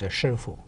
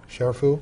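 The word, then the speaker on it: 師父: The proper Mandarin pronunciation is Shifu. Shifu? Shifu.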